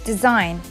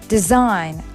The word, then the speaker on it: design: in this word foreign one more example is design she is Allen in this word and we pronounce this word as design like your shirt design is very beautiful which